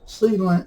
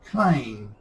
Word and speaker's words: Clang: Now, I'm going to pronounce C-Lang, well, I'm not going to pronounce C-Lang as Clang. There's GCC, PCC, Microsoft C, Quick C, Open Watcom C, Turbo C, so they all pronounce the C. So I am going to say C-Lang.